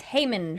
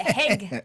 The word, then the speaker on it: Heahmund: say it's Heahmund. Heahmund. But no, they pronounce it Heg.